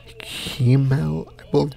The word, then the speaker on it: Himmel: a kind of wholesome moment between Frieren and Himmel, that's how you say his name, but overall, very wholesome, lovely episode this was, and can't wait for the upcoming episodes.